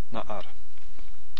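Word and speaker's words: נַעַר: And what happens with na'ar, which means young lad, here we have a guttural. Na'ar is spelt with two patachs and stress in the first syllable. So it also is a segolate. Na'ar.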